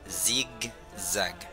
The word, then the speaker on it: zigzag: No se pronuncia como S, sino como Z. Ok, zigzag.